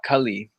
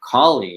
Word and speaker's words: Kali: did yeah I mean because it is spelled the same way and one has a short a that's like the only difference to me Kaleem gotta learn Sanskrit